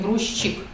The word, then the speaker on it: грузчик: И поэтому, если Зося ждет, мы пишем грузчик, хотя произносим грузчик, подписчик, перебежчик, обходчик, газетчик.